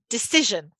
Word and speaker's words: decision: that into a noun three syllables where's the stress you've got it decision okay in the middle and then if we